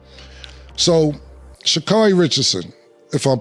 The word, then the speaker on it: Sha'Carri Richardson: So, Sha'Carri Richardson, if I'm pronouncing her name right. Yo, Nick, I'm pronouncing her name right? The runner? Sha'Carri Richardson, right?